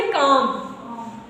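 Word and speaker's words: calm: D के पहले L आया है, साइलेंट। तो इसको क्या पढ़ेंगे? काम, बॉम, पाम, पाम।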